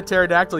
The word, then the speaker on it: pterodactyl: can't you hear a pterodactyl use the bathroom I know this one I don't know if you guys know it I know this one because the p is silent correct like to earn